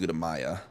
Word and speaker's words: Gutamaya: What's funny is the engineer bases, they pronounce it Gutamea, but then all the other like the bases, like when you go to an orbital station, they pronounce it Gutamaya.